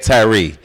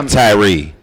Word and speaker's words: Tyrhee: The fake Tyrhee. Tyrhee is how you spell Tyrhee. Tyrh. The H is silent.